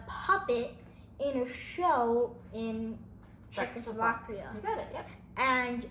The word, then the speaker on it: Czechoslovakia: Czechoslovakia, you got it.